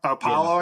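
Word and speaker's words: Paolo Banchero: Paolo, I mean.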